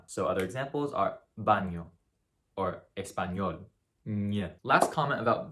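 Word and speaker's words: baño: the squiggly above it this is pronounced just like in the spanish loan word pinata so other examples are banyo or espanol last comment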